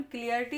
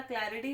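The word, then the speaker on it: clarity: Sorry, एक viewers थे जिन्होंने मुझे बोला मैम क्लियरिटी नहीं होता, क्लैरिटी होता है।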